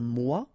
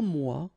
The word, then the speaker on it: mois: Un mois, and then moi, me. Okay, so un mois and moi.